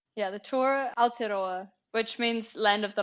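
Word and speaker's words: Aotearoa: you called the and I need to find out if I'm pronouncing this right I've got a t AOA now is that correct yeah the T aloa which means land of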